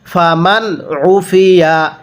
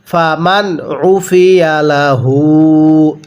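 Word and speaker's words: فمن عفي: ফামান উফিয়া, এখানে আইনটা চাপ দিয়ে পড়বেন। পড়ুন ফামান উফিয়া লাহু, এরপরে মিন আখিহি।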